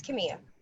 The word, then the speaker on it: Kamiya: with that ya know you're pronouncing it right it's Kimmy okay thanks Bishop I